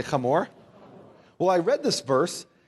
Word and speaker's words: Hamor: Now, in the English, you'll see Shechem and Hamor, but it's pronounced Shechem, say Shechem, and Hamor, say Hamor.